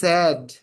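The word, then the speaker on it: said: এস এ আইডি সেইড বাট এটা সেইড না কিন্তু উচ্চারণ হচ্ছে সড বিষণ্য বিষণ্য সেই সড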